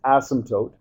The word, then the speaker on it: asymptote: you spell asymptote and you don't say asymptote okay or any anything weird like that it's it's asymptote okay uh kind of a very uh silent P there okay an asymptote is